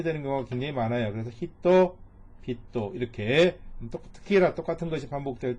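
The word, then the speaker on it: 人々: 그래서 얘는 사람 인자가 두 개인데 읽을 때는 히토 히토가 아니라 히토 비토 이렇게 읽으시면 돼요.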